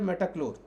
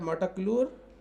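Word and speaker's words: metolachlor: जैसे एला क्लोर बूटा क्लोर ऐसे य है मेटा क्लोर मेटा क्लोर स्पेलिंग होगा इसका एम ई टी ओ एल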